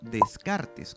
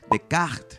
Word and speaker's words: Descartes: un extraño para muchos decir por ejemplo descartes cuando en francés debería ser de cast y en latín cartesio acompáñame a descubrir cómo